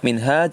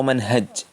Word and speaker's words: minhaj: kau almadk Hai hehe Kita juga bisa juga membacanya minhaj atau Manhaj Manhaj muslim Minhajul Muslim